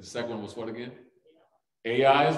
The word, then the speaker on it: Ai: one was what again a i is right people say how do you pronounce that when you say a is literally spelled a and an i but it is pronounced ai second one who can